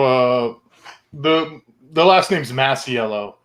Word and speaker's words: Masiello: industry yeah so uh the the last name's massiello like um so the way i got into